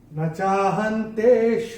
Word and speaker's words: न चाहन्तेष्वस्थितः: न चाहन्तेष्वस्थितः, और ये जो विसर्ग आ रहा है चरण की समाप्ति पे इसका उच्चारण केवल और केवल ह ही होगा। न चाहन्तेष्वस्थितः ऐसे करके आएगा।